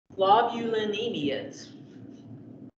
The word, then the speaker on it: globulinemias: Globulinemias. I'm not going to have you pronounce it, but slow down. Globulinemias. Like immunoglobulin, that same root word.